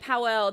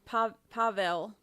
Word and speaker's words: Pavel: I've been saying it Powell. They're saying Pavel. So I guess I've said it wrong in everything I've ever said.